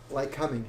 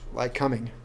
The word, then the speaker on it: Lycoming: they do not say that back in like like coming is how they pronounce it like coming so when you get back there they're like